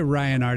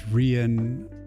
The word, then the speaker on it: Riyin: Hey, you could say Ryan Art if you want, but the proper pronunciation is Riyin of the R-I-Y-I-N.